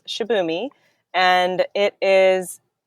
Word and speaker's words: Shibumi: I'm saying that right yes you are pronouncing it correctly it's shabi and it is not